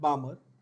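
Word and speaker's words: Balmer: Lyman, बामर का L silent, we call it बामर, बामर, Paschen, bracket and P fund, ठीक है।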